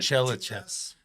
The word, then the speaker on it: Tchelistcheff: Chellachaf.